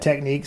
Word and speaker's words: Technics: uh techniques right techniques I've heard a lot of YouTubers provide pronounce this techniques but I found this ad in a 1972 stereo Review magazine and it has a pronunciation key and I've always said techniques so I'm sticking with techniques another great